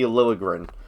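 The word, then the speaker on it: Liljegren: First of all, Jud Serat, please, for the love of God, learn how to pronounce Timothy Lilligrin. It's Eastern European. You don't pronounce the J.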